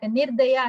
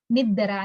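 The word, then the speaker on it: నిర్దయ: So what he tells is, instead of nirdaya, he says niddara, niddara, niddara.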